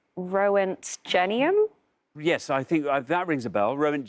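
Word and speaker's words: roentgenium: like the sound of it already and it's Rowan genium yes I think that rings a bell rent J rent well say rent genium yes and see what happens Rowan genium let's see how many people said that row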